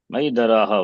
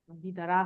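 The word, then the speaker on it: महीधरः: Mahidaraha only. Mahidharaha. Cannot say Mahidara.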